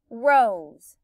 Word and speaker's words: rose: consonant in e er i hear a long o and it sounds like a z to me right it sounds like a z rose vowel consonant e except remember that s can also make a z sound so then you